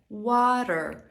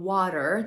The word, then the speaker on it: water: i szybko cofa się water water żeby poprawnie wymawiać słowo water to właśnie opanowanie Flap te Zobacz moje wcześniejsze rolki